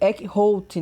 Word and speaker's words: Eckhout: Não é um nome brasileiro, então a pronúncia é diferente, mas vai ser Eckhout, né?